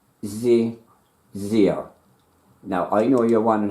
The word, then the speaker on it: xe/xyr: All together now, XE/YXYR, commonly pronounced zeer. Okay, that's XE/XYR. It's commonly pronounced as zeer.